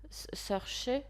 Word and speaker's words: Saoirse: D'ailleurs, l'actrice principale, je vais jamais réussir à prononcer son prénom. Saoirse. Enfin, elle a un prénom imprononçable. Même les Anglais ont du mal à le prononcer parce que je crois que c'est irlandais. Enfin, c'est le dialecte gaélique.